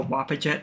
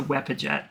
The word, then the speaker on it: Wepajet: calling him a Wapajet. It's a Wepajet. It's an E, not an A.